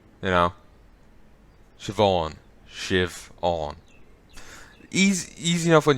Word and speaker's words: Siobhan: And it's pronounced like SHIVAUN. Or maybe just UN. No, AUN. Shiv on, as in awning. You know? Siobhan.